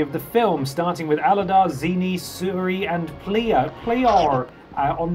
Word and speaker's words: Aladar: I had to Google how to pronounce it because I was like, that could be pronounced any number of ways. I think it's Aladar. Aladar, yes.